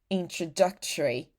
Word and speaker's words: introductory: need to say in you don't need to say any vow O here like introductory. There's no O, you know, just relax your mouth. Just say tree.